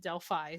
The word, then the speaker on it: Delphi: Delphi murders, it's because Delphi is a Greek word and the Greek pronounced it Delphi, so I've been pronouncing it Delphi, but I guess It's Delphi. Indiana natives pronounce it Delphi. So I'm gonna try to pronounce it correctly according to the Indianians, but it's It's gonna Delphi.